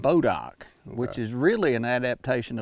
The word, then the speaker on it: Bodock: People around here call it Bodock, which is really an adaptation of a French word that's spelled B''DOIS DOC.